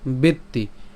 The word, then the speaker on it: বেত্তি: এরপর বেত্তি, এখানে বেত্তি কেন একটু খেয়াল করি, আমরা এখানে তয় তো আছে, তাহলে উচ্চারণ কেমন হবে, বেত, এই ত পর্যন্ত উচ্চারণ করে তর শিকার বেত্তি।